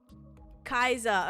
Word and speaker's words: Kaiser: Kaiser. Okay, that's how I was pronouncing it. But I was like, it could definitely be like Kesa. So Kaiser, gotcha.